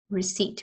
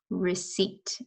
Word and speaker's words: receipt: Receipt. We don't say the P, okay? The P is silent. Receipt.